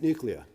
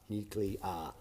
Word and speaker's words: nuclear: us and that is nuclear nule three syllables nule nuclear not nuclear I don't know what